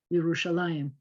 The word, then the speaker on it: Yerushalayim: without an iem option it looks like it might have been yerushalam they spell it like this with that e dot under the mem because nobody pronounces it anyway other than yerushalayim and so if you're